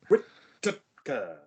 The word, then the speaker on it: Whittaker: That's why you should pronounce it. Whittaker.